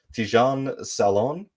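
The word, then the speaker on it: Tidjane Salaün: I also listened to a French broadcast, and I believe the pronunciation was Tidjane Salon.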